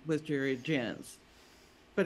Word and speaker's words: Jance: was Jerry jenns but it was spelled j-a-n-c so it was mostly mispronounced Jank so after he died I went to court and I paid 400 bucks to add that e to the end of my name so people would say it Jan's like dance instead